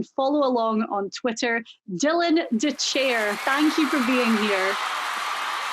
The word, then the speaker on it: Dethier: along on twitter dylan de chair thank you for being here thanks for having me nice pronunciation of my last name no nobody we were